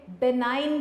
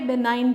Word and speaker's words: benign: जी बेटे, नेक्स्ट हमारे पास टर्म जो हमने मार्क करनी है बेनाइन ट्यूमर, जी साइलेंट है यहाँ पे, बेनाइन ट्यूमर।